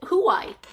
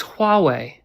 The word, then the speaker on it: Huawei: It's Huawei. You got to pronounce it correctly first. I'm sorry. Could you say that again? It's Huawei.